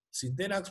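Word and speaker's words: Sintenax: dos aislación es más se le llama tipo 100 tenax es una marca muy común pero bueno se dice tipo sin de nash para identificarlo son los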